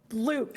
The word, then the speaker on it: Luc: It's Luke. It's French. I'm pronouncing it Luke. Frick you. That's how it's said in French. Yeah. I'm pretty sure it's loose.